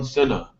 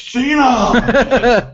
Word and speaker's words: Cena: went and faced against John CNA and like 15 people in the crowd are like it's Cena oh like obviously they